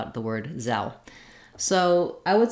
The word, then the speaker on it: Zelle: that e says f and this e is just silent in zell uh then when we